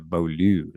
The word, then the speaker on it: Beaulieu: I went with I went belu like I just emphasized the L.